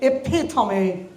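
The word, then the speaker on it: epitome: ওর জন্য হয়েছে ইটস প্রথম সাউন্ডটি হচ্ছে ইফিটমি এন্ড সেকেন্ড সেলে জোর হবে এপিথমে এপিথমি বাংলাদেশে এটা অনেকেই এপিটম বলে সড কেউ মোবাইল ইউজ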